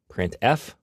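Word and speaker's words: printf: these three are the most popular they are pronounced print F put car and puts each function is designed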